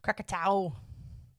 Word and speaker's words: Krakatoa: Krakatoa? Krakatoa.